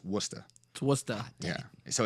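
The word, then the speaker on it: Worcester: and I was like I know it's not Worchester so clearly it's werster and like it was like a record scratch and it was like no no like a dog cuz I just you know made a terrible mistake so fun fact it's Wooster so what's that yeah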